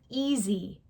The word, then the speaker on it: easy: But when Americans say that word, they would never say e. They say easy because that s sounds like a z.